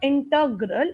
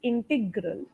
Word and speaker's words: integral: Integral, Okay, it's not integral. It's integral.